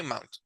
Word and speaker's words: mountain: When you find the combination of these letters, the pronunciation is going to be very close to ow, ow, out, found, cloud. Okay, so here, same thing. Is not mountain, is mountain. Okay, mountain.